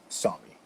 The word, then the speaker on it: Sami: with me i have this is the right pronunciation saw me because it's bengal it could be xiaomi and i don't know